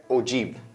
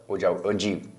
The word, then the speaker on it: ogive: Or you can pronounce it as ogive. क्या pronounce कर सकते हैं? Ogive.